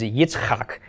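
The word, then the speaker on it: יצחק: Oh a bruh ham but Isaac is a Hitchcock and you may not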